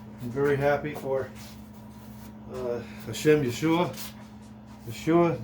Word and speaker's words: Yeshua: Yeshua is how you say Jesus in Hebrew.